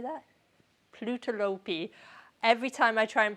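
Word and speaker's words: Plötulopi: Plutolopi. Every time I try and pronounce on my own, I end up with plutolopi.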